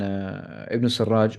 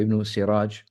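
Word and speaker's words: ابن السراج: And subhanallah, this is the time when Ibn Sarraj or Ibn Siraj, both of the names have been, it has been pronounced in either way, Ibn Sarraj or Ibn Siraj, rahimahullah.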